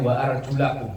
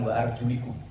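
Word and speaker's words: وَأَرْجُلَكُمْ: Tapi kalau dalam mazhab kita bacanya wa arjulakum, bukan wa arjulikum.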